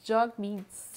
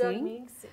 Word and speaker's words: Jagmeet Singh: Il prononce Jagmeet Singh. Jagmeet Singh, OK. Oui, donc Jog comme hug, Meet comme rencontrer.